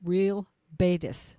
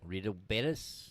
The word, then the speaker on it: Real Betis: I believe that it's pronounced Real Betis. Rio Betis?